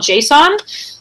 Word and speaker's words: JSON: of an API so we have what's called JSON and that's how we pronounce it and then or XML and XML